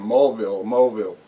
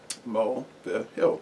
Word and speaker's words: Mulvihill: hangouts with him, and she was saying Mulville. He said, no, it's Mulvihill. Mulvihill, 3 syllables.